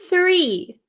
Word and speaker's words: three: CH Tre the next word you have is three three so tree tree like a Christmas tree